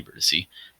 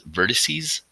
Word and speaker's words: vertices: me is a virtus is not a vertice is vertices spritzee's yes that's correct